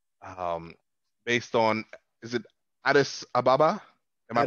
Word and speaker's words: Addis Ababa: it is uh um based on is it addis ababa am i pronouncing it correct that's right um in ethiopia